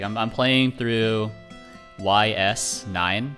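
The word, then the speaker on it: Ys IX: Like, I'm playing through YS9, pronounced Yeast9.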